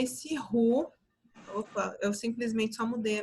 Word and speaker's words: roux: O roux, que é assim que se escreve, vocês estão vendo aqui, roux, mas se fala roux, ele é a mistura de um amido mais uma gordura em proporções iguais.